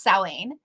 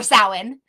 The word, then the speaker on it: Samhain: Samhain is actually pronounced Samhain, or Samhain.